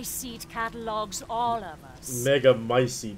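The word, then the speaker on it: Megamycete: catalogs all of us mega micey that's how you pronounce it however she will be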